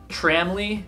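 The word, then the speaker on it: tramily: It's pronounced Tramley. That's what most people say.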